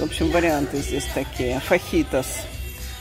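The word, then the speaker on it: fajitas: Фахитас. Фаджитас. Вообще-то фахитас. Американцы произносят, не знаю как точно.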